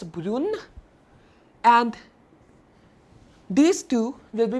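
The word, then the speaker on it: brune: pronounced all four as burun but that's not the scene like only this and this since there is an e at the end to be pronounced as broon and these two will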